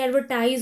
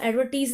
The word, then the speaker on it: advertise: इसको हम एडवर्टीज नहीं पढ़ सकते, एडवर्टाइज पढ़ते हैं। लेकिन जब वो MENTS लिखा हो तो वो एडवर्टीजमेंट हो जाता है। समझ रहे हैं, यहाँ प्रोनाउंसिएशन कितनी डिफरेंट है। यहाँ पर भी एडवर्टाइज है, लेकिन यहाँ पर ये एडवर्टीजमेंट है, तो इस बात को याद रखना।